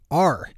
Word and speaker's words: Anslinger: To find Annie's great new show on iTunes, just search for the word Anslinger, which is spelled exactly how it sounds, Anslinger. Good morning, Marijuana Nation.